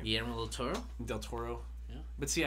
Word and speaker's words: del Toro: I still can't pronounce his last name. Guillermo del Toro.